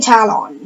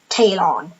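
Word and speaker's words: Talon: for talent in patriot 14 on ice a talent that better be how you pronounce it because I will not believe anybody that says it's pronounced tail on anyways so because of these are not necessarily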